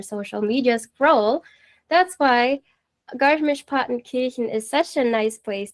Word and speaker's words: Garmisch-Partenkirchen: Okay, so it's 2 words, Garmisch-Partenkirchen, because the AR is pronounced as A. So it's Partenkirchen. Garmisch-Partenkirchen.